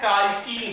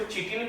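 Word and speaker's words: chitin: काइटिन का। इसको चिटिन भी हम बोल सकते हैं अपने लैंग्वेज में, लेकिन ये काइटिन का बना होता है। इसका प्रोनाउंसिएशन क्या होता है? काइटिन होता है।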